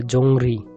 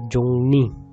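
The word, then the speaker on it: 정리: জংনি হাফসিদা, এটা আসলে অনেক উচ্চারণ করে জংরি, জংরি উচ্চারণ হবে না, হচ্ছে জংনি, জংনি হাফসিদা।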